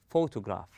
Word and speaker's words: photograph: So, where does the stress take place? It takes place in the first part, on pho. We stress on pho. We place a strength or force on the first syllable, and we go easy on the rest of the word.